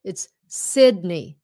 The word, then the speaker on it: Sydney: Mà khi mà nói tiếng Việt mình kêu là Sydney. Sydney. Okay? It's Sydney. Sydney Harbor. Chứ không phải là Sydney Harbor.